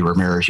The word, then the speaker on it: Ramirez: on the podcast it's ramirez right did i pronounce that correct you do as well as i can because i pretty much say we're mirrors y'all so let's see i've